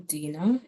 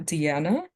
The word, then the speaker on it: Dina: I am Dina. It is pronounced Dina, not Deanna, and I'm strict about that, so please be mindful.